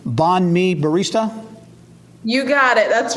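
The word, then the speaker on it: bánh mì: And I think I'm pronouncing this right. Banh Mi Barista?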